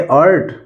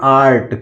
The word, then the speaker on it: art: अर्ट नहीं, इसको पढ़ेंगे आर्ट। क्या पढ़ेंगे? आर्ट।